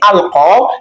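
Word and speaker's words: ألقى: not in the writing, because you can see alqa that it actually ends with ya. But in pronunciation, it is pronounced as alif, and you see that the same goes for yalqa.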